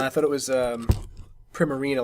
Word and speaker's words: Primarina: It's Prim, and it's like a Marina, which is a real word. I thought it was Primarina, like a prima donna, but that's what I but Marina.